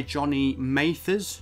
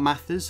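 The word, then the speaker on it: Jonny Mathers: character passenger played by johnny mathers not mathis apologies i mispronounced that in my previous video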